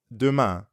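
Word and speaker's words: demain: of biantu you'd add dumas means tomorrow so adoma means see you tomorrow yup see you tomorrow the ending of duma sounds a lot like the ending of bian now you practice repeat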